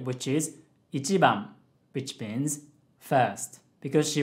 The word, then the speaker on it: 一番: 一番 has a low, high, low, low pitch pattern.